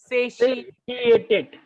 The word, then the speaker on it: satiated: जो कैपिटल में है ना, उसको आपको ज्यादा जोर से प्रोनाउंस करना पड़ेगा. से टी ए टेड. Satiated.